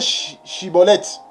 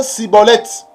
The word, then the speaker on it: shibboleth: né pas être saisi il faut bien pronocé shibboleth il ne faut pas prononcer ciboulette et ne soit pas